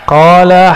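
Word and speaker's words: قال: Qala haddatsana. Coba lihat. Ini enggak ada tulisan qalanya, enggak ada kan? Tapi ahli hadis membacanya qala. Dibaca qala itu.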